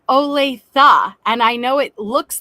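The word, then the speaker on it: Olathe: No, I think it's pronounced oletha and I know it looks like it's pronounced ole but I was told it's pronounced ole with an a.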